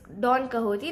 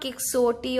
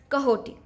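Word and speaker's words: Don Quixote: it's Don kahoi now the spelling is a bit you know throwing off it's by Spanish writer so you know the spelling and the pronunciation will be a bit different it's not kiotti or kiod it's kahot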